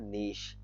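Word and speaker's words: niche: आप लोग सुन लें, इसकी प्रोनाउंसिएशन होती है नीश, ठीक है, शीन आता है एंड पे, नीश।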